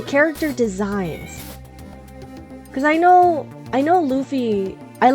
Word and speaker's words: Luffy: I thought Luffy's name was pronounced Luffy. So I always pronounced it Luffy until I started watching, and then it's like, oh, it's Luffy. Like a loofah.